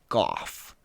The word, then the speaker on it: Gough: Apparently, he pronounced it Gough, as in the thing that Enoby Darknest Dementia Raven Way is.